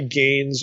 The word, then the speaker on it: Gane: And for this, I think a good source, a really interesting source anyway, is Roy Gain's article. Gain is spelled Gane, and it's entitled The Bread of the Presence and Creator in Residence.